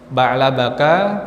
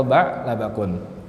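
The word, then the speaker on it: بعلبك: Ba'labaka, ba'labaki, ba'labaku. Tidak boleh ba'labakin, ba'labakan atau ba'labakun.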